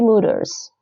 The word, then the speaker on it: moeders: OE here is U, is the U sound.